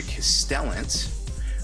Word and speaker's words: Castellant: up we have the Lord castellant rhymes with repellent with his little fabulous